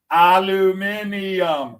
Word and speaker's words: aluminium: We took out the I and it's aluminum. Aluminum. That's right. Four syllables. You can get through the speech quicker. Aluminium. Five syllables. Come on.